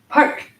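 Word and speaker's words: फट्: symbolizes the enlightened mind Park is another seed syllable it has a DOT under the T so it's a retroflex park try it parked Park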